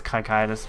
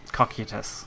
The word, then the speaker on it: Cocytus: doesn't it I mean he says cocytus but as we showed you Pam she goes for cocky at us so interesting so mainly